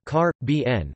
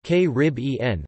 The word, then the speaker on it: Caribbean: the third syllable, and k-rib-en, with the stress on the second. Most authorities of the last century preferred the stress on the third syllable.